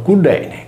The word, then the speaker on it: Cillene: Cillene, pronunciato Cudene, con la Y che traslittera la nostra U e la doppia L che assume il suono cacuminale D, traduce dal sardo all'italiano la voce amore.